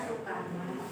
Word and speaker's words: Soekarno: Teks itu dibacakan oleh Soekarno, bacanya ya, tulisannya Soekarno tapi bacanya Soekarno.